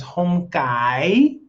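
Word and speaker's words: không cay: Hom Kai.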